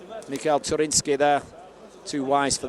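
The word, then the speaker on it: Michał: nice tactic there from Michael trinsky on Mikel as it's pronounced the Polish way o big you know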